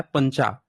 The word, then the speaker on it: पंचा: और 5 को पंजा, यहाँ पे पंग, CH चा, इसका प्रोनाउंसिएशन होता है पंचा।